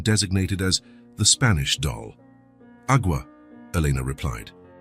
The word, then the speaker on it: agua: "Agua," Elena replied. "It's pronounced agua, with a very soft G-E.